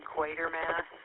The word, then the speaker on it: Quatermass: Quater Mass and Phil pronounced his name equator mass. So, if you say a long a it it helps keep you from wanting to put an R in there.